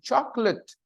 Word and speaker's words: chocolate: spelling confuses you but when you listen to the pronunciation chocolate choc Ock lit it there are only two vowel sounds and the stress is on the first chocolate goes in the